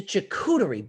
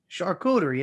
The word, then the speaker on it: charcuterie: something simple jerk man you you just totally butcher the english language you really do you just totally well it's a checkudery board shark rotary i call it what do you call it don charcuterie isn't that what it's called you know how